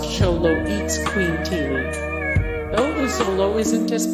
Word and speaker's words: Xoloitzcuintli: Dante is a Xolo, short for Xoloitzcuintli, pronounced Xoloitzcuintli.